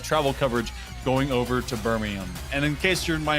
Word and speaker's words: Birmingham: Birmingham. Birmingham. We don't pronounce the H because why would we?